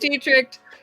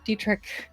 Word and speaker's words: Deitrick: mannequin for you Ted teeny tricked I think I produced pronouncing that with an extra tea at the end of it I shouldn't be doing that Deitrick point at Detrick interim